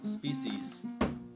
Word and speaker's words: species: Species rhymes with feces.